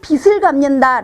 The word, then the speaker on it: 빚: 이에요 꼭 기억하세요 이때도 2 지라고 어 천냥 빚을 갚는다 라고 발음 하시는 분들이 굉장히 많죠 이때 천냥 빚을